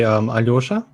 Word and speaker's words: Aljoša: Well, I mean, different people pronounce it differently, but usually they just say Aljoša.